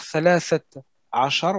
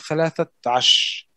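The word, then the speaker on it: ثلاثة عشر: Au lieu de dire thalathat achar, on va dire thalathat ash. Ouais, c'est la tâche. C'est la tâche, voilà. Arba'atash, khamsatash. On mange le R, il est parti, et on colle l'ensemble comme si c'était un tout.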